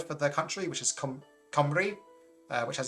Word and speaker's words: Cymru: Cymru is the country, and then Cymraeg is the language.